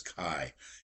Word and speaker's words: Kei: was the import of what's called key or K or Kai cars. I think the proper pronunciation is Kai. It's spelled Kei.